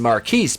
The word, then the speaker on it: Marquise: Jada is in the lab at Strong Independent Black Woman Who Don't Need No Man Industries, and Marquise, pronounced Marcus because he's fucking stupid, calls her, and he says, You're gonna want to turn on your television at 9 a.m.